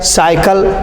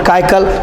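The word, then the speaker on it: cycle: साइकिल, नॉट काइकल, इस तरह बहुत सारे शब्द दिए गए हैं, इसको आराम आराम से देख सकते हैं।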